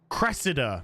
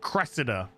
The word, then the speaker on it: Cressida: does cressider isn't it Cressida Cressida that's how you pronounce it Cressida I remembered I remember